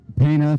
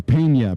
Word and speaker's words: Peña: from Corner Canyon brenon paa from also from Corner Canyon I believe it's Peña Brenan Peña if we want to be correct with our Latin pronunciation Here Comes Kai seamons